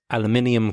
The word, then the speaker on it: aluminium: He said aluminum cans, which is pronounced aluminium cans in the UK, which is quite different really.